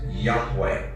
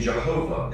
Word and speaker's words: Yahweh: The pronunciation Jehovah is an older, less accurate rendition of these letters. It originated with the early German translators of the Hebrew language and their sounds, thus the more Germanic sound of Jehovah.